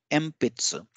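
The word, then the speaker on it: えんぴつ: when we pronounce it we replace this n with an M sound M pizza so this is done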